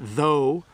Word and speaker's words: though: as F sometimes like sometimes if you use the word though I'll put it in the chat though there's no sound at the end but if I say tough there is one so I know that's